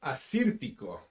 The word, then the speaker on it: Assyrtiko: Pronounced Assyrtiko.